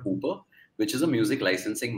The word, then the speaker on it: Hoopr: Uber. So Hooper, when I call Hooper. My, how do you spell it? H-O-O-P-R. Hooper. Are yaar, enough cultures in India, the H will get swallowed.